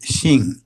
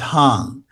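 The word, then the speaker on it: 行: The character I'm talking about is pronounced Xing. It's actually originally a pictograph of a street intersection, but it's also pronounced Hang. One pronunciation is the southern pronunciation, the other is the northern pronunciation.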